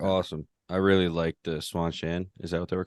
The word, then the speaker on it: Seanchan: It's basically if Jackie Chan had a son and named him Sean. that's literally how I'm pronouncing it. Yep, it's- Sean Chan.